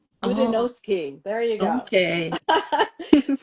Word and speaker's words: Fudenosuke: How do you pronounce it? The Fudenosuke. Oh, Fudenosuke.